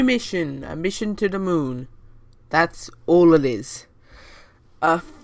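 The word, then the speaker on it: Mün: moon it's the kerbals moon which is spelt mu n but the dots above the um I think I meant to make me make it be pronounces a new sound so it's pronounced moon I don't know confusing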